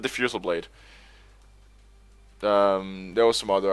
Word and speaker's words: Diffusal Blade: guy who um who pronounced it defusal blade defusal blade instead of diffusal Blade um there was some